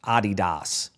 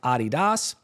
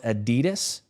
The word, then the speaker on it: Adidas: the German sneaker company uh that is actually pronounced Adidas. You'll know it as Adidas. Here in the United States, it is pronounced Adidas.